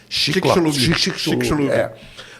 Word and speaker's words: Chicxulub: O choque lá de Chicxulub, como é que pronuncia aquele negócio? Chicxulub.